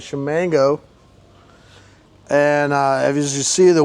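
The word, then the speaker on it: Ximango: It's pronounced Shamango, SH.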